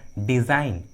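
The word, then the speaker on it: design: Trick के अनुसार जी silent है, जी का उच्चारण नहीं किया गया है। उसी तरह डिज़ाइन, अलाइन, देखिए दोनों इंग्लिश वर्ड्स में भी जी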